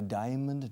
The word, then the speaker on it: diamond: And a diamond necklace, it's very expensive, de diamantes. Fijaos en la pronunciación. Diamond, no diamond, diamond.